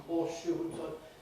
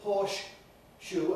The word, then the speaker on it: horseshoe: shell water shell and horseshoe if you say porsche shoe and paws in the middle that's a totally artificial pronunciation nobody uses was a native speaker so you're making